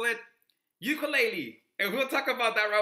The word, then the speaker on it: ukulele: The word is actually pronounced ukulele.